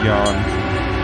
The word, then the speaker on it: Jan: always call him Jan even though his name is pronounced Yan he feels weirded out when I don't pronounce the name that way cuz he's so used to me saying Jan after all these years